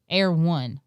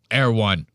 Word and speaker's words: Erewhon: But he calls it like Air One. Yeah, he completely pronounces it wrong. I don't even live in LA and I pronounce it right. Erewhon.